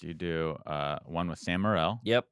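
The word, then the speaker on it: Sam Morril: do uh one with sam morell yep did i say his name right yep samurail funny comic jew jew oh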